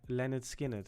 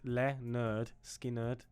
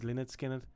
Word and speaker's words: Lynyrd Skynyrd: pronounce it but it's literally says underneath it pronounced Leonard skinnard is that how you is that how you say it that's how it says pronounced leard skinnard I thought it was linard skinnard okay that's what it is today we're listening